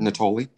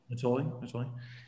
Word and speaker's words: Natoli: Is it pronounced Natalie? Natalie, yeah. Do you know what's name? Natoli. Natoli.